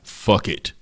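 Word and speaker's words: Phuket: It's an island by the name of Fuck It.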